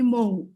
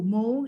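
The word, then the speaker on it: Mou: and just a request please call me mo that's it m o u mu it means honey in bengali can you please pronounce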